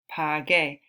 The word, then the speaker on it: pagué: Pagué, G-U-E.